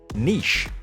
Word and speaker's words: niche: We can broadly place most roller coaster manufacturers into three ‘styles’: vertical integration, horizontal integration, and niche (or perhaps it’s pronounced for you, yes you).